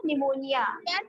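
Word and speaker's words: pneumonia: तो P में जब P साइलेंट होता है, ये भी हम लोग कर चुके थे ना, निमोनिया. PNEUMO है ना? Yes, ma'am. MONIA निमोनिया है ना?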